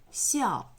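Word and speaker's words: 孝: Es el carácter que se utiliza para piedad filial y que se pronuncia 笑 y también, también significa luto, vestido de luto,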